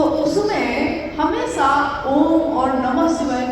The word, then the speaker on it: ओम: जो प्रकट हुई उस ध्वनि की आवाज थी अ उ म अगर एक साथ सुना जाए उसको तो उसकी आवाज घुसती हुई ऐसी है जैसे हम बोलते हैं या उच्चारण करते हैं तो हम कहते हैं ओम है वो अ उ म यानी उत्पत्ति स्थिति और